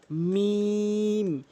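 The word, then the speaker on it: ميم: এরপর আসুন মিম। মিম দুই ঠোঁটের ভেজা অংশ মিলিত করে মিম এভাবে উচ্চারণ করবেন মিম।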